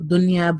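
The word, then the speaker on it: دنيا: We would simply pronounce the noon as normal. Dunya, bunyan, sinwan, qinwan. Why? Because idgham can only happen between 2 words, and this is within a word.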